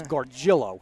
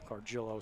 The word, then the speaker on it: Gargiulo: It's spelled differently. Okay. If you see it's Garguilo, but I thought it was Garguilo, but it's Gargillo. Gargillo.